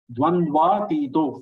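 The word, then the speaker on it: द्वन्द्वातीतो: Dvandvatito. First letter is short sound. After that, three are dirgha.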